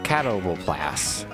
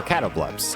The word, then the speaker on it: Catoblepas: And we have a catoblepas, or catobleps, depending on your pronunciation or how pretentious you choose to be.